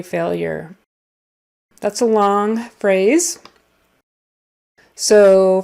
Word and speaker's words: failure: And then failure is like F long A-L-Y-E-R. Failure. It's not spelled that way, but that's kind of the phonetic spelling there.